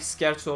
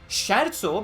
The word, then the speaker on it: Scherzo: People have pointed out that I should not pronounce that as Scherzo because it is Italian, and it's just the German in me screaming when I read that as Scherzo, so I'm sorry. I'll try to get used to not pronouncing SCH as a sh.